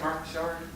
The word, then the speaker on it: Mark Richard: marus anyone heard of marcard amazing writer his name is spelled Mark Richard but it's pronounced as he says in the French rard uh he's the